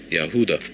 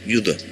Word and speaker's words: Judah: sins like the descendants of yahuda or Yuda which is the true pronunciation of Judah they all fell in